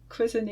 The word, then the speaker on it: Cuisenaire: so that's how you make equivalent fractions using quiser rods and I've pronounced it right this time thanks for watching